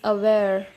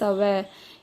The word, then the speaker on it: aware: The next word is aware. In American, an R is silent. It is aware in British, which means concerned and well informed about a particular situation or development.